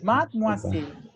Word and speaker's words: mademoiselle: Mademoiselle. Made, la E ne se prononce.